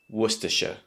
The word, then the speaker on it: Worcestershire: But in fact, it only has 3 sounds or 3 syllables. Worcestershire. Worcestershire. Again, you might have noticed in the middle, the second syllable, we have that schwa sound. I told you, it's everywhere. And also make sure you have the stress at the beginning of the word.